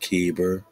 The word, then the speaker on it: Heber: spellings Afghan kyber kver Hebrew Heber pronounced keber Egyptian Ki Greek CFA